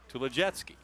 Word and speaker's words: Tulodziecki: Tulodziecki. Well, probably you pronounce the DZ as a J. There you go. That makes sense.